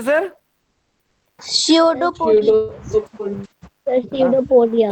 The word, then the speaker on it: pseudopodia: कोई पी, पी यहां silent होता है, ठीक है सर? पी क्या होता है? साइलेंट होता है। पी स्यूडोपोडिया मत पढ़िएगा, या पूडोपोडिया मत पढ़ने लगेगा। पी साइलेंट होता है, तो बोले स्यूडोपोडिया।